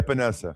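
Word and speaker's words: Epenesa: Um and help me say his name, AJ Epanessa. Epanessa.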